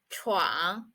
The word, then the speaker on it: 闯: it means a break in two and the pronunciation of it is truang so these are the words we learned today